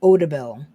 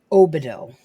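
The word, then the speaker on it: Obidil: looks good as new i love how the spell checker mispronounces the name of the spell it says odabel but it's obido 25 years they haven't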